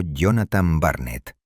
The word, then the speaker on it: Jonathan Barnett: Contrató los caros servicios de un experimentado y calculador cazador de corsarios llamado Jonathan Barnett, pronunciado Jonathan Barnett, dotándolo de un navío fuertemente armado.